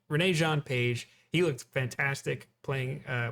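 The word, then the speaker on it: Regé-Jean Page: a paladin i call i always butchered this actor's name i always call him jean i valjean it's that's not even close to right it's renee renee jean page he looks fantastic playing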